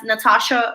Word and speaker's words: Natasha: can search me as natasha um i might my name is spelled with an h after the t so it's a silent h so uh natasha